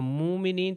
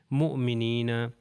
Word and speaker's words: مؤمنین: اگر کہوں مومنین تو وہ صحیح نہیں ہے، مؤمنین.